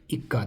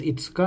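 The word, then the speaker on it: 五日: The fifth day is itsuka. Itsuka. So this is not ikka, this is itsuka, and this is yokka.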